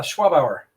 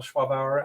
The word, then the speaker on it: Schwabauer: ado uh we'll let our guest mr schwaber i hope i pronounced that right uh schwab hour schwab okay i wasn't using a quote it